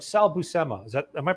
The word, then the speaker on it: Buscema: you know like Sal busemma is that am I pronouncing it right when he actually appeared in a Nova comic that he drew he pronounced it for now they said be you simmer oh okay although although